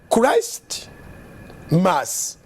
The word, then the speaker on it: Christmas: So Christ Mass olwa pronunciation y'oluzungu ebuza T kyeva efuuka Christmas.